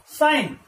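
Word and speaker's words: sign: Next word क्या है, एस आई जी एन, साइन, साइन, यहां पर भी जी क्या है, साइलेंट है, और साइन का मतलब क्या होता है, संकेत, क्या होता है, संकेत।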